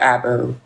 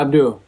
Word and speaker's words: Abdu: a boss and CEO, Abu. Abdu. Is that how you say it? Yeah, Abdu. Abdul.